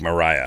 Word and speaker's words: Black Maria: what is the Black Mariah uh um uh it's spelled like Maria just so you know the black Maria but it's pronounced Mariah a Mariah the Black